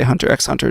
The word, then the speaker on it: Hunter x Hunter: there's no reason the there is no reason that the X should be silent I I purposely say Hunter x Hunter just because it annoys